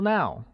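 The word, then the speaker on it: 猫: literally translates as now which is pronounced with a high level tone Mike now let's take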